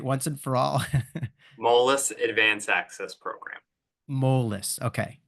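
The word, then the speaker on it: Moelis: I get it right once and for all molus Advan Access program mess okay excellent um and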